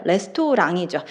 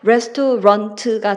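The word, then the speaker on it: restaurant: 레스토랑이죠. 걔는 불어식으로 읽는 거고요. 영어에서 이 단어가 앙 소리가 날 이유가 전혀 없고 끝에 있는 T 소리가 안 날 이유가 전혀 없어요. 그래서 레스토랑트가 되는 거고 살론도 영어로 읽으면 살론이 맞습니다.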